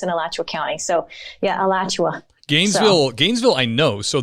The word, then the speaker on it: Alachua: i mean can you tell us the proper pronunciation of that county yeah alachua county uh which is i went to the